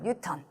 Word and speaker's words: 뉴턴: 우리 힘의 단위의 가장 대표적인 단위는 N이라고 읽으면 안 되고 우리 뉴턴이라고 읽어줘요. 뉴턴.